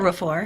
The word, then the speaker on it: Okorafor: Is that how you pronounce her last? Yes, Okorafor.